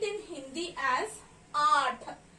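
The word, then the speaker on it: आठ: I am going to write in Hindi like this, and I call the number 8 in Hindi as Aath.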